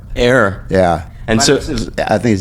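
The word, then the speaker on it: Éire: They pronounce it, I think, Ayr. Ayr.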